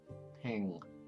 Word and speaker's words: ペン: It sounds like she's saying peng.